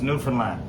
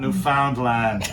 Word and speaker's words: Newfoundland: Now, a scuff is a dance, and a Newfoundland, a blue star is a beer, and it's pronounced Newfoundland. not Newfoundland or Newfoundland. No.